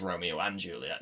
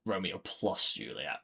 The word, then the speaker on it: Romeo + Juliet: Obviously, I think it's still pronounced Romeo and Juliet, not Romeo + Juliet, but So, that's how it's stylized.